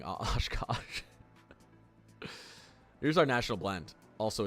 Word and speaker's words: Oshkosh: You got Oshkosh, right? It's just pronounced how it's spelled.